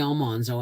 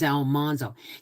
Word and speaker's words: Almanzo: the Prairie readings because I keep calling all monzo Almanzo his name is Almanzo no it's not it's Almanzo like it's Almanzo remember